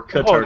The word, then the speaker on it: Kotarski: My name is Kotarski, or Oh, Kotarski. that's how you pronounce it.